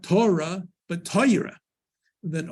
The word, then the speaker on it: Torah: that line is what Torah that's the correct pronunciation is Torah uh you'll often hear it pronounced as Torah that's that's under the Yiddish influence of moving